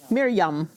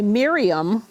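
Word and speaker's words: מרים: Mia Mirror Mirror yum Miryam we might say Miriam but that's not how she would say her name Miriam yeah good good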